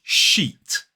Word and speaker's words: sheet: So this word is sheet. Sh-E-t. Again, like beach, it has that long E vowel sound.